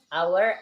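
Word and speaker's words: hour: digunakan untuk huruf vokal, kecuali huruf yang hanya itu tidak dibaca atau tidak dianggap ada. Ya, ini our, honest, bacanya our and honest.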